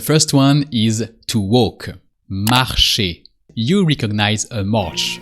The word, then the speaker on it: marche: I walk is mar for I. You just replace e or by an e only and you never really pronounce the e. The e is always here to reveal the last consonant or to activate the last consonant.